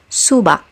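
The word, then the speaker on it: 수박: Like in the word subak, which means watermelon, obviously it has to be pronounced as g. Once again, this word is pronounced as subak.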